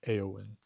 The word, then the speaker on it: Éowyn: Uh, because words in Old English and Old Norse are emphasized on their first syllable. So, no matter how long the word is, you still emphasize that very first bit. Eorlingas would be more appropriate. And the same with all other names, Éowyn, right? Always emphasize that first syllable.